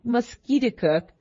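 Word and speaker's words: Musketicook: name of conquer River he pronounced it mosquit cook emphasizing the second syllable with a peculiar guttural sound inste that it meant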